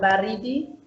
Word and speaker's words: baridi: there is, for example, baridi. There is ba, and then the pronunciation is again on ri, and then it goes down again to di. Baridi.